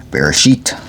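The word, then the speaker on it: בראשית: Alright, so we left off at Genesis 36, Bereshit. That's how it's actually pronounced in Hebrew, I suppose.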